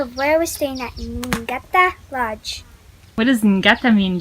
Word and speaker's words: Ngata: We're right near Pretoria at a lodge called Ngata. It's pronounced, I believe, Gata, but it's Ngata and it says Place of Abundance.